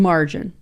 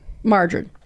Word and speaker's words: margarine: It's It's actually margin, right? Margarine. Margarine. Am I saying it right? You said margin at first. Margin.